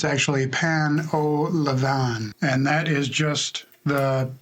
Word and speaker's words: Pain au levain: We are making Pain Au Levain is not how you say it. It's actually Pain Au Levain, and that is just the generic French name for sourdough bread.